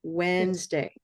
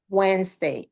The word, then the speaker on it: Wednesday: Wednesday. Wednesday. And S sounds like a Z, right? Okay, so that D is silent. And then we also don't say the N, do we?